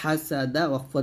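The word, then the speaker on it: حسد: জবর দাল জবর দাদা হাসাদাফ ধরলে হাসাদ আবার এই হা এই হা দুটো হা চাপ দিয়ে বলতে হবে হা এরকম হা উচ্চারণ করার সময় একটা চিকন বাতাস বের করবেন তারপ উচ্চারণ করবেন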